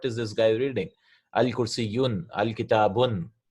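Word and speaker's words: الْكِتَابُ: You can never have al and tanween coming together, right, at the end of the word. Example, al-kitabu, the book. Al-kursiyu, there's no al-kitabun. We cannot read it like that, right? We have to say al-kitabu.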